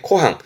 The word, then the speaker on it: 湖畔: 논뚜렁 길을 아재미찌에 아재 발음이 있어서 보여 드리는 거고 시험적으로는 호반의 코항 요거면 되세요.